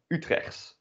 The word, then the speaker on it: Utrecht: But then pronounced according to local dialect, which is also called Utrechts.